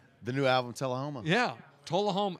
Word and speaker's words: Tullahoma: Tullahoma.